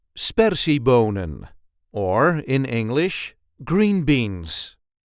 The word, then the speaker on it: sperziebonen: see how to pronounce spery bonan or in English green beans. This is the way we say spery bonan. Spery bonan. There is a light emphasis on the first syllable.